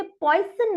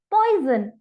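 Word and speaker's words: poison: अब हैरानी की बात यह है कि यहाँ पॉइजन की स्पेलिंग में मैंने कोई जेड नहीं लिखा, पर फिर भी मैंने इसे पॉइजन नहीं पढ़ा, मैंने इसे पढ़ा है पॉइजन। यानी जेड का साउंड आया है।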